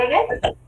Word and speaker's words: Hegel: intentaban defender, contradecir en realidad las ideas de Hegel, así se dice, se pronuncia así, pero en realidad se mantenían en